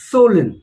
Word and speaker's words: swollen: हम लोग बोलते हैं swollen. We don't pronounce the W. It is swollen.